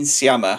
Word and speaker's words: Sciamma: Celine Sciamma. Is that how I say her second name? Sciamma, I think. Sciamma, yeah.